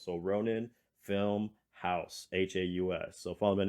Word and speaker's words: RoninFilmHaus: me which is at Ronin film house uh on Instagram uh but the house is spelled h-a-u-s everything else is spelled as it sounds so Ronin film house h-a-u-s so follow me